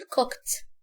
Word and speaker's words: cooked: لما الاقي الفعل اخره كي، لما اجي احط له الاي دي هنطقها زي التي، فاقول cooked.